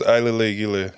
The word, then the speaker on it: Ailele: haircuts whole sir yeah so my name is iil he said but you know that's what Americans call me